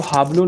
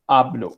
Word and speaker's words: hablo: Hablar में H is silent. आपको hablo नहीं बोलना. It's hablo.